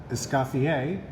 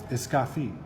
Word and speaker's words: Escoffier: Now the French-American way of pronouncing it would be Auguste Escoffier, and then the traditional is Auguste Escoffier.